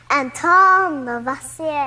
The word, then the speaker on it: Antoine Lavoisier: That guy has a fancy name, but I think I need to pronounce it like this. It's French. Antoine Lavoisier.